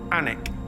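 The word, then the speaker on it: Alnwick: correct answer ion it's actually alwick but it's pronounced alwick anic anik yeah was he is that the right answer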